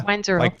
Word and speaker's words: Weinzierl: Weinzierl. Like you just said it.